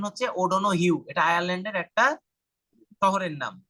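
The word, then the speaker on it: O'Donoghue: অনেক সময় স্যাররা ধরে যে unhappy tired of ওডন ইউ উচ্চারণ করতে পারে না ওডন গু বলে তো স্যাররা যখন ওডনু বলে স্যার এটা ওডন গুই অবশ্যই এটা কিন্তু এটার উচ্চারণ হচ্ছে ওডন হিউ এটা আয়ারল্যান্ডের একটা শহরের নাম একটা সিটির নাম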